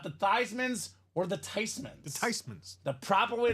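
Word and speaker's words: Theismann: languages says makes sense it's a German name with that spelling that pronunciation it should be Ty so Joey t for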